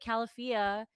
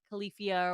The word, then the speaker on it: Califia: But Califia is called, and that's the correct pronunciation, not Califia or whatever people call it.